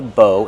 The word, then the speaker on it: bow: Bow, use a long O like no and go.